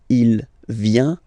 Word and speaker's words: vient: Final T not pronounced. Il vient, elle vient.